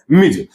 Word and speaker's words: Ms.: MS डॉट का pronunciation है मिज।